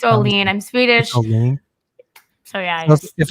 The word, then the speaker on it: Olin: say yeah it's all lean i'm swedish if it's if it's olene it should be spelled o-l-e-e-n in europe especially in sweden and in the nordic countries the i makes the e sound you see that's how